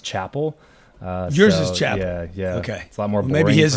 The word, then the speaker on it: Chappell: David David you know no that's actually it's pronounced Chapel yours is Chad yeah okay a lot more